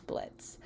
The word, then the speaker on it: Blitzo: character his name is blitz the o is silent if anyone actually sees